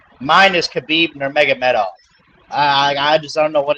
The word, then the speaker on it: Nurmagomedov: Mine is Khabib Nurmagomedov. I just don't know what it is about Nurmagomedov, but I'm like one of the rare people who actually say it right.